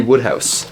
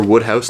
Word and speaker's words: Wodehouse: whole bunch of PG Woodhouse remember woodh house not wood house even though it's spelled kind of odd so I've got um